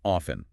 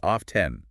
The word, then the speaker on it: often: In North America, it is very common to drop the T completely and say often, but many British and some American speakers say off 10. Both are 100% correct. Pick whichever is easier for your mouth.